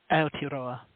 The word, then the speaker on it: Aotearoa: Aotearoa, is that how it's pronounced? Aotearoa. Aotearoa, okay, very cool.